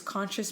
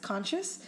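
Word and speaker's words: Conxcious: all around the world and um it is conscious Productions so it's um do you want me to spell it out yeah cuz it's not a traditional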